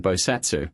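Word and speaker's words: 菩薩: the month a bodva or in Japanese pronunciation bosatsu was appointed each of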